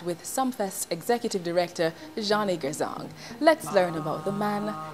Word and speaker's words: Gourzong: Okay, so they added the R, so it's really Gourzong. Okay. And then the R came in, so some people call me Gourzong, others the R is silent, so so it remains right.